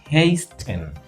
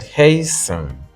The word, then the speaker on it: hasten: accelerate is to hen so hastening not hting but hasten to hasten is to